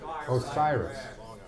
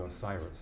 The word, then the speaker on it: OSIRIS: How do you pronounce it? Osiris? Osiris. It's Egyptian. Yeah, it's Egyptian. Osiris.